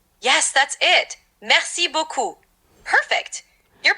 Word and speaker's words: merci beaucoup: It's merci beaucoup. The R in merci is soft, and beaucoup has an O sound, like beaucoup.